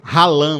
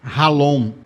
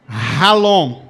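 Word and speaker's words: חלום: Você vendo aí, se fosse ler assim no português mais básico, ralã, né, ficar, mas se pronuncia ralon.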